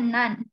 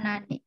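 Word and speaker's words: 何: Nah berarti ini dibacanya nan bukan nani.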